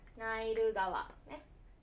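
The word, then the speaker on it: ナイル川: Tại thời điểm này, nó được đọc là "nairu gawa."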